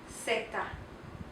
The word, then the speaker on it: zeta: Zeta. It is pronounced like the S sound. It always makes the S sound.